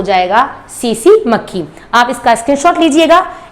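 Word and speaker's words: tsetse: सीसी मक्खी। Spelling T से start होती है, टी साइलेंट होता है, TSEE, ध्यान रखिएगा।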